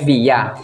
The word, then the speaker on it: villa: Ang apelido ko po ay villa. Kapag sa Spanish, ay via. Hindi pino-pronounce ang L.